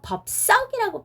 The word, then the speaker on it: 법석: 이거는요 발음은 법석이라고 발음이 됩니다. 비읍 뒤에요 발음이 쌍시옷이 발음이 된다 하더라도 예사소리인 시옷을 써야 되니까 법석이라고 써야 되니까 이거는 맞는 맞춤법이 되겠죠.